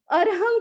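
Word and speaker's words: अर्हम्: ध्यान कंठ पर रहेगा र हलंत है आधा है र का उच्चारण करते समय ध्यान मस्तिष्क पर पुनः ह का उच्चारण करते समय ध्यान कंठ पर और म ये अनुस्वार का म है नाद है बिंदु है उसका उच्चारण करते समय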